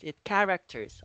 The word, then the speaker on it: characters: okay in this one it is silent H okay like that characters that char actors its characters okay silent H you get it okay okay